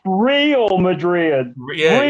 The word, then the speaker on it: Real: It's and pronounced Real Madrid. Yeah, Real. it's not pronounced Real. It's real.